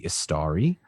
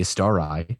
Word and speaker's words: Istari: order of wizards called the istari or the estarai depending on interpretations and pronunciations and there's a lot